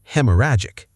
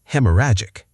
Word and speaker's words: haemorrhagic: Hemorrhagic. Hemorrhagic.